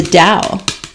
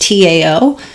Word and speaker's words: Tao: beginning to read uh the dao pronounced tao i'm i think i'm saying that correctly the dow it's i don't think it's the tao it could be some